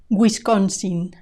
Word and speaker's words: Wisconsin: Wasington Washington Washington Washington Wisconsin Wisconsin the w i is gu G Wisconsin Wisconsin Guin Guin the W yo